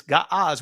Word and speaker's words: Ge'ez: Other languages, they call it Ge'ez today, but the ancient pronunciation is Ga'az, which is an Ethiopian Shemitic language that had nothing but letters associated with the consonants.